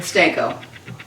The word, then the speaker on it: Stanko: your name sto what was the last name steno steno s t a n k o so you so anybody